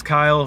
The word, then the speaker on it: Kyle: Walter Russell hi my name's Kyle rhymes with smile all the adults when